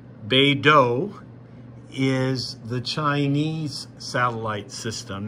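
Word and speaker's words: BeiDou: we use here and BDS pronounce beo is the Chinese satellite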